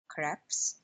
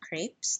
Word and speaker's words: crepes: Hi everyone, welcome back to my lean kitchen and today I'm going to show you how to make creps or sometimes pronounced as crepes depending on where you live.